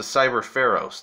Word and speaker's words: Cyber Pharos: Oh, and it's a Cyber Pharos, not an Oros. I completely said the card name wrong.